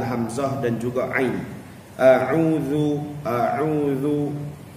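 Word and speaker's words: أعوذ: Jadi kita kena jelaskan bunyi ain tu. A'udzu, banyak dalam kalangan kita yang bacanya a'u, a'u, a'u. Itu dua-dua jadi hamzah. Dia tak keluar ain tu, tak sampai ke tahap makhraj huruf ain tu.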